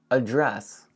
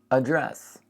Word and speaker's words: address: Address. Think of it like this. Address. Address. And of course, the stress is on dress.